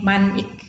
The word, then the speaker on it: mnemonic: adalah teknik-teknik nemoni ya mnemonic bacanya nih manik gitu ya Oh ini adalah